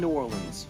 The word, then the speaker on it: Nuorlans: My name is New Orleans. like the city but not spelled the same.